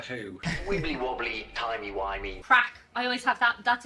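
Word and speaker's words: craic: Crack.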